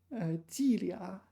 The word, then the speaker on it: 伎俩: Normally this is pronounced lia, but in this specific example it's pronounced liang.